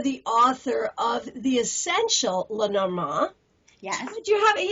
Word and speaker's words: Lenormand: what you looked like or even how to pronounce Lenormand. Did I get it right this time? Bravo. Good job. So you are the author of The Essential Lenormand.